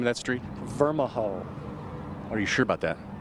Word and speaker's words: Vermijo: Well, it's Vermijo Avenue. How do you pronounce the name of that street? Vermijo.